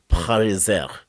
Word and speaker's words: Pariser: And almost it's Paris, like Paris.